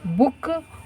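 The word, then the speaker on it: bouquet: भी कट जाएगा और बी ओ यू क्यू यू ई टी बुके यह हमारी स्पेलिंग हो जाएगा इसमें टी जो है वो क्या है साइलेंट है बके नेक्स्ट स्पेलिंग हमारी रेसिपिटिन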